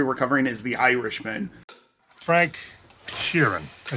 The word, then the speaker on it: Sheeran: Frank Sheeran.